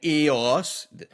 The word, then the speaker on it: iOS: An EOS. The umlaut over the O makes you pronounce it EOS.